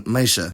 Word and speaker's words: meisje: Dutch I've ever heard, clusters of any alveolar obstruent before y simplify into a post-alveolar consonant. This is especially useful knowledge in diminutive terms, as that suffix is y, like in meisje.